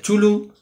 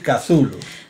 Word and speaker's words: Cthulhu: mitos de kazulu de chulu o de zulu bueno lo vamos a decir kazulu porque ya sabéis que habíamos tomado esa determinación que es la forma más canónica de de pronunciar el nombre impronunciable de este monstruo primigenio